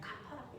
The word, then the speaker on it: kappa: 얘는 kappa라고 읽어요.